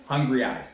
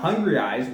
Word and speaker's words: Hungrieyes: Now, Hungrieyes, which is spelled Hungrieyes, like hungry eyes.